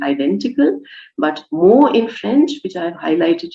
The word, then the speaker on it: mot: it's spelled in French, by spelling this now differently as MOT, it sounds exactly the same, but it draws attention